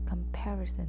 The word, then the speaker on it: comparison: Comparison. This kind of comparisons can quietly hurt our confident. Comparison with an emphasis on the second syllable.